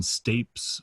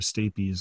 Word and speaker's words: stapes: the malleus incus and stapes or stapes i've heard to pronounce both ways um so you may